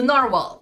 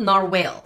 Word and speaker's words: narwhal: It's a narwhal, right? Not narwhale.